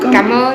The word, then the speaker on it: Cảm ơn: Cảm ơn. Cảm ơn. Cảm Yes, ơn. let me write here for you. Cảm ơn. Cảm ơn. Thank you so much. Really, thank you. And you. Cảm ơn.